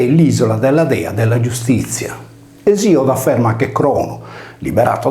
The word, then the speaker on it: Iustitia: L'equivalente latina di Temi era giustizia, pronunciato giustizia, come in sardo, o dea dei giusti.